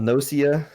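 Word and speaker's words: Gnosia: It's spelled with a G on the start of that, by the way. Yes, like Ganosia, and they may have actually said that.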